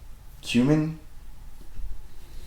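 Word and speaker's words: Quammen: so this is a I don't know if I'm pronouncing his last name correctly but it's David cumin q a m m en but it's a much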